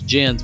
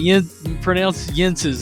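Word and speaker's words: Jens': I know it looks like you look at it and think it's Jen's, but it's not. It's pronounced Yentz's, and my wife had been here, visited here many times throughout the years.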